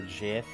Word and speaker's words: GIF: They're arguing about if it's pronounced GIF or JIF. It's fucking gif. I don't care. The guy who invented it said it was called a GIF.